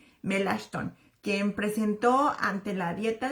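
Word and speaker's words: Melanchthon: Así que en representación suya pues fue su buen amigo Philip Melon, perdón la pronunciación, Melashton, quien presentó ante la dieta de los Burgos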